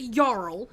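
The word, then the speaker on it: jarl: feel very strongly that if you're going to spell a foreign word in English letters spell it as it sounds with a Y and not a J if you're gonna pronounce a yarl spell it with a Y what is the point of spelling out non English word in English letters if you're not going to spell it the way you'd pronounce it I'm not Swedish I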